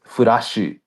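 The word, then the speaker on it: フラッシュ: So like flush is furashu.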